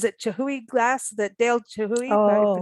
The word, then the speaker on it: Chihuly: you saw, there's a Chihui glass, that Dale Chihui, am I Oh. pronouncing Yeah. that right? Garden and That, Glass, Chihuly Garden oh, and Glass.